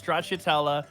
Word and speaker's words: stracciatella: Stracciatella? Stracciatella? Well, now, Gelato. okay. Spell it.